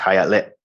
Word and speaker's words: Hialeah: look all around Florida Hialeah it's pronounced hayat lit and that um I